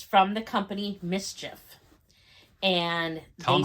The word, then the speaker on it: MSCHF: it's a bag and it's from the company mischief and they tell them how it's spelled uh that's a good question mschf and